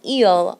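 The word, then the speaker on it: ils: way it works and you do not pronounce the S at the end remember s's are not pronounced at the end of the word so eel and eel are pronounced the same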